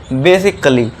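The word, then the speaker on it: basically: क्योंकि ए के बाद डबल एल वाई है तो यहाँ ए जो है ये साइलेंट हो जाएगा।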